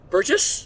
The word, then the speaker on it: Burgess: Burgess? Yeah, soft G for a soft name.